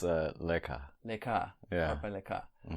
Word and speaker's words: Leka: Her name's pronounced Leka.